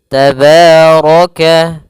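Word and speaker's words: تَبَارَكَ: Maka tabaraka tabaraka. Kemudian rnya dibaca tebal karena dia ro berharakat fathah.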